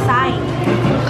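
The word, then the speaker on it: açaí: No, it's a sai. Sai? Sai. How do you spell it? A-C-A-I, sai.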